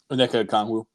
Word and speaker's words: Onyeka Okongwu: Onyeka Okongwu.